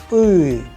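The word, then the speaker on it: Ы: Please pay attention when I am pronouncing so that you can also master the sound. The letter is known as U, U, and you have several words in Russian.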